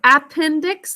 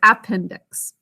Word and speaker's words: appendix: to pronounce this word appendix the first syllable is unstressed but we think of it as appendix appendix three syllables can